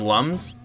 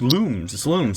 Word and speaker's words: Lums: I always called him Lums, but like everyone online said, it's Looms. So I was like, okay. So I pronounced it Looms the whole time. And everyone was like, why are you calling it Looms? It's Lums.